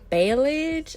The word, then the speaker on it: balayage: This is their balayage. I forgot how to pronounce that.